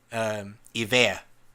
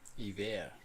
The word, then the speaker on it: hiver: Hiver. Hiver. I-V-E-R. Oh, so De Vere basically.